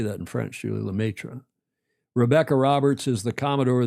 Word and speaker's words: Lemaitre: Lemaitre.